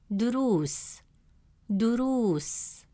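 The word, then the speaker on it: دروس: Since the long vowel waw comes immediately after ru, it stretches the short oo sound into a long oo sound.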